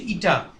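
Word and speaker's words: η: হচ্ছে, এই উপরে লিখছি, এটা একটা গ্রিক অক্ষর, একে এর উচ্চারণ হচ্ছে ইটা, ঠিক আছে?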